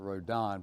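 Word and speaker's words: Rodin: we're really excited about called rhoden or rodon really i think both skip and regina would pronounce it rhodan based on their their abroad studies that he was a famous sculptor which i wasn't aware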